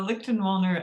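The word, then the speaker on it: Lichtenwalner: spelled l-i-c-h-t-e-n is it how do you pronounce your last name uh lichten walner and in german it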